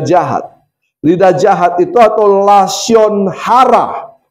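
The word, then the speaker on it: lashon hara: lidah jahat itu atau lasion hara. Lasion hara. Katakan lasion hara itu artinya lidah jahat atau kata-kata yang tidak seharusnya diucapkan.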